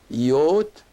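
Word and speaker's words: ⲓⲱⲧ: Yot. And the iota here, as I said, is pronounced like a Y because it's followed by another vowel, which is the long O.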